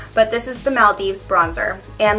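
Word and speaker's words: Maldives: saying it totally wrong but this is the Mal Dives bronzer and like I said before it smells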